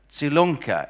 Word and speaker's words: Salunkhe: stressed the fact that her surname salunkhe is pronounced like tsunami which is what I